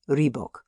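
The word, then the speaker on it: Råbäck: The mana house or hergard in question is to be called rebok pronounced something like reebok though that is not its name.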